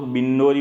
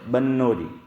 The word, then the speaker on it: بنوری: یوسف بنوری علیہ الرحمہ، اس کو لوگ بنوری بولتے ہیں، با کے نیچے زیر، لیکن صحیح تلفظ با پہ زبر ہے، بنوری۔ تو حضرت مولانا محمد